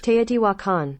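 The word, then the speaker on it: Teotihuacan: Ino actually I Googled it I'm not gonna mispronounce this word it is TE wakan there you go you heard it right from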